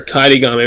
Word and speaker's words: Kaedegami: Uh, it's so it's Kaid Kaid Gami. So like Kaid Kaid like the actual Japanese name Kaideday with Gami slapped on the end.